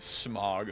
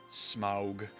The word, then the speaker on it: Smaug: like, sneered at me when I said Smog. Like, you Smog. What's a Smog? The dragon in The Hobbit? I'm like, oh, okay. Smaug.